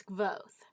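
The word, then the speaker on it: Kvothe: My name is Gvoth, pronounced nearly the same as Quoth.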